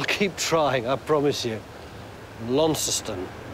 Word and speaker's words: Launceston: this one in fact this one is named after the Cornish one but we pronounce the Cornish one lanceton and I can't get that out of my head but I will